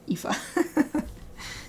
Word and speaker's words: Aoife: And the video was like, just forget the first two letters, and then you can pronounce it Aoife.